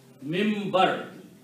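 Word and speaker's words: منبر: We pronounce noon as a meme. Minbar.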